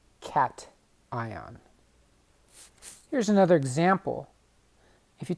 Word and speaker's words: cation: ion is positively charged it's called a cat like the animal cat ion here's another example if